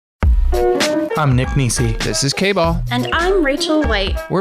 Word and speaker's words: K-Ball: K-Ball rhymes with ball.